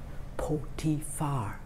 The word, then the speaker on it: Potiphar: And I ended up working in a big palace for a man named Potiphar. It's kind of a hard name to pronounce, right? Can you repeat for me his name? Potiphar.